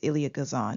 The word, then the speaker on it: Elia Kazan: The director of Pinky is Elia Kazan, if that's how you pronounce it. It's Elia Kazan.